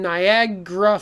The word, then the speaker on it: Niagara: and it disappears okay in niagara falls it's ga ra becomes gra right so a lot